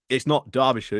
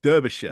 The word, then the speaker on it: Derbyshire: It's not Derbyshire, it's Derbyshire. Yeah.